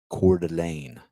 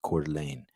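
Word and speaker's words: Coeur d'Alene: out these doors here behind me is uh cordelan that's how you pronounce it cordelane uh beautiful Lake uh doesn't look big has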